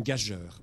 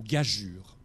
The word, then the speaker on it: gageure: que vous voyez que je décompose jeu le prononcer pendant des années une gageur mais c'est pas du tout comme ça qu'il faut le comprendre ça se prononce une gageure à quoi sert ce 7e qui à côté